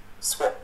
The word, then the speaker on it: swap: Swap. Nếu mà bạn đọc giọng Anh thì nó sẽ phát âm giống chữ shop hay chữ stop.